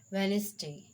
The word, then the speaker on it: Wednesday: Wednesday, catch, pledge, grudge. Rule number 2, D is not pronounced in the following common words. Wednesday, handsome, handkerchief, sandwich.